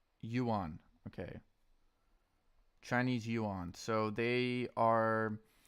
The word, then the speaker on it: yuan: Yuan pronunciation. Yuan.